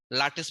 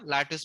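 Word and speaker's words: lattice: to define this as latice parameter okay the proper way is the latis parameter or ltis constant okay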